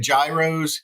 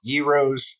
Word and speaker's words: gyros: fair I I had Gyros Yos if you want to say it right and uh fried fried